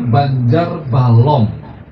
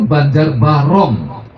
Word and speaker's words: Banjar Barong: semua orang terus ini menyebutnya Banjar Balong kalau saya lagi meneliti itu bukan Banjar Balong itu Banjar barong itu barong itu topeng-topeng barong itu Makara itu ya yang berbanjar-banjar itu baris tapi karena pelafalan yang lama-lama orang akhirnya Banjar balok sampai sekarang ya orang menyebutnya Banjar Balong Padahal maksudnya Banjar barong itu Makara itu kalah